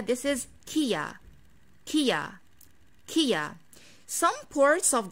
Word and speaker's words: Kia: for this car brand the correct pronunciation is kia kia and the wrong pronunciation is kaya and the correct pronunciation